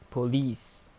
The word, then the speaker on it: police: A comfort, B police, C market, and D teacher. The correct answer here is option B police. This word has a stress on the second syllable.